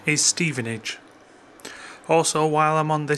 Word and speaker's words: Stevenage: correspondent Andrew Parker responded to your query the pronunciation is Stevenage also while I'm on the subject - so